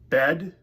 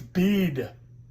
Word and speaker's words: bead: Which means this word would be So it' be bed. No, it's bead. Why would you think? It's because it's like heat, not head. Bead.